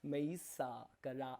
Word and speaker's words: Mayssa Karaa: I heard a lot of news reports and I studied how they pronounce it with the Mayssa Karaa. You're pronouncing it perfect.